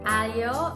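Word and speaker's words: aglio: i'm pronouncing that correctly but alio it's silent g by means garlic and olio is oil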